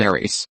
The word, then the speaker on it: Ares: The modern English pronunciation is Ares.